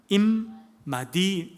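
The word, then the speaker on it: עִמָּדִי: 나와 함께라고 번역된 단어는 임마디 임마디입니다. 임마디가 아니라 임마디입니다. 디가 나의 그런 뜻이고요. 나와 그런 뜻이고 앞에가 임마입니다. 인마. 뭐 어릴 때 우리 애들이 그냥 야 인마 이렇게 할 때는 인마 그때는 아니고 임마 원래 임이라는 뜻은 같이 한다는 뜻입니다.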